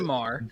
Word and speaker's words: Midsommar: Midsummer was one that Pronounce it right. Like, It's fuck this shit. Midsommar.